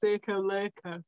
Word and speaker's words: Circoloco: You could get the Natas and the Nona Circoloco or whatever you call it palette for that price. But why the would correct you? Pronunciation is Circoloco, in case you didn't Circoloco.